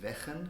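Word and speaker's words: Wegen: It's made by, I think it pronounces Wechen. It's a Dutch guy. It's W-E-G-E-N.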